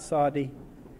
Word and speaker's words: Saudi: That's three syllables in that word, by the way. It's not Saudi, it's Saudi. And I do have a friend here in the audience who'll correct my weak Arabic, but it is a three-syllable word.